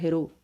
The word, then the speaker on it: Héroult: Ou Héroult, né? Héroult, para falar da pronúncia francesa.